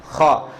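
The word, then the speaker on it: خاء: তার ভিতরে একটা প্রথম বর্ণ হলো কি খ। এই খ বলার সময় আমরা একটু ঠোঁটের গোলায় বলতে পারবো খ খ খ, তাহলে হয়ে যাবে। আর যতক্ষণ আপনি খা খা সারাদিন বলবেন, এটা হবে না।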